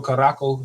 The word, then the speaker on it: Curaçao: If you ever heard of that, Curacao or Caraco is how some people would pronounce it.